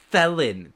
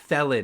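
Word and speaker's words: Thelyn: since we're since we're above table, is it pronounced felon with a t sound? It's yes, it is felon. T h e l y n. Theelon.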